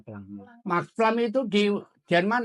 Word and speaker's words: Planck: Planck, bacanya Planck.